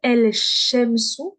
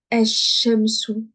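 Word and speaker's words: الشمس: des mots comme ici, Je vais pas dire El Shemsu, je ne dis plus elle. Le lemme, je le prononce pas. Je vais dire Eshemsu. Eshemsu. Donc le lemme, je le prononce plus.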